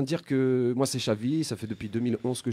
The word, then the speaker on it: Chavi: Donc voilà, mon nom c'est Chavi, ça s'écrit C-H-A-V-I.